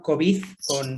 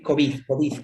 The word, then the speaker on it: COVID: He de reconocer que yo el término COVID con el acento en la segunda solo se lo he escuchado a Francisco, no estoy insinuando nada, pero no es muy común oír COVID, no, siempre COVID. Entonces me pregunto si esto